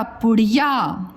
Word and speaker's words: पुड़िया: अब देखिए यहाँ पे क्या है, पू अड़ा में छोटी की मात्रा अड़ी और या पुड़िया।